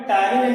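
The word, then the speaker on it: ptyalin: टायरिन को इंग्लिश में T silent होता है, ध्यान है, टायरिन टी इसमें जो है साइलेंट होता है।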